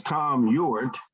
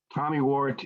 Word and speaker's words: Tom Ewart: hi my name is tom ewart tommy wart is a phonetic spelling of how my name is usually mispronounced as you can hear if it starts with an e it's always started with